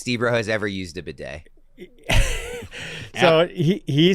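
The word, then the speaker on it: Badie: It's Tyler Bidet. Like, that thing in a French bathroom that you use to I've heard 70 different ways to say his name, and I'm wrong.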